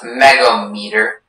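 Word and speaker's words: megohmmeter: Yes, so the word is pronounced megometer.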